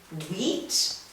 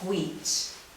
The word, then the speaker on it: wheat: Okay, the next one is wheat. Some people pronounce it wheat. It has that w like in whale.